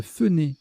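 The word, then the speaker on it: fohner: Se fenner, qui s'écrit F-O-H-N-E-R ou F-O-E-H-N-E-R, signifie se sécher les cheveux en Suisse.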